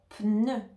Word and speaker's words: pneu: le mot pneu pneu ici on entend le P et ensuite on a le son ne donc on entend le N et ensuite le E français non le E français pour le prononcer tu vas devoir mettre la langue au milieu et tu va dire e e donc les lèvres en avant aussi e attention pour le